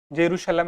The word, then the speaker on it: जेरूशलम: जेरूशलम या यरूशलम अलग-अलग उच्चारण से हम इसे कहीं कहीं पर सुन लेते हैं।